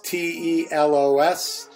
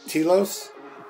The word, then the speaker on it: telos: creator of telos tennis that's t-e-l-o-s telos or as some people pronounce it telos and it is an